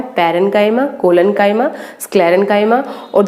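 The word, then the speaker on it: parenchyma: पैरेन्काइमा, pronunciation सुन लीजिए इसकी, पैरेन्काइमा।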